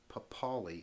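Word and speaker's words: Papale: papali now papali papali against vince papali is how you pronounce it and forgive me sir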